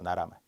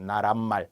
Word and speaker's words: 나라말: 나라말. 근데 학생분들이 간혹 나란말이 이런 분들이 있어요. 나란말 안 돼요. 표기를 잘 보세요.